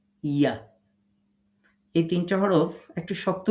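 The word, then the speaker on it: ي: যেখানে এগুলো লেখা থাকবে তো জিম শিন এবং ইয়া তাহলে তিনটা হরফ জিহ্বার মাঝখান থেকে তার বরাবর উপরের তালুর সাথে লাগিয়ে শক্ত করে উচ্চারণ করতে হবে এই কথাটা সুন্দর করে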